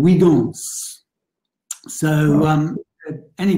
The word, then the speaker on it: Huygens: of his name so people in english tend to say huygens um the dutch uh say helgens which is why the english don't and my brother reminded me that there was a physics teacher at highgate school who was french who called him wigans so um any pronunciation